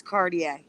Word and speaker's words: Cartier: It's spelled Cartier, but it's Cartier.